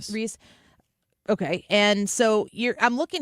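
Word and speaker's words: Rece: Reese.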